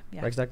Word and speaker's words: Reichstag: Do you know about Nazi Germany, The burning of the how do you pronounce it, Reichstag? The Reichstag, yeah.